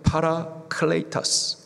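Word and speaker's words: παράκλητος: 보해사 헬라식 발음으로는 파라클레이터스. 파라 하시다. 클레이터스 도우시는 분. 파라 훅 눌러 가지고 파라클라이타스 하면은 함께하시며 도우시는 분 그분이 바로 보해사 성령님이십니다.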